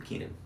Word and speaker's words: Keenan: Keenan.